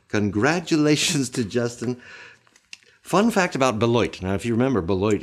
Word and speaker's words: Beloit: about Beloit, I have been told that the locals say the name of their city sounds like a quarter falling into a toilet bowl.